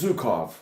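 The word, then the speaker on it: Zhukov: Oi, it's Zukov.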